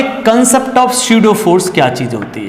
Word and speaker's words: pseudo: m is the mass of body और this is स्यूडो force. P silent रहता है इसमें।